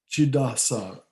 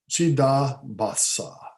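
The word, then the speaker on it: Chidabhasa: And the reflected light that comes with the mind is called Chidasa. I'm sorry, I'm mispronouncing it. Chidabasa. Yeah, that's it.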